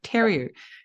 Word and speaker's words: Theriault: I said theory instead of terry.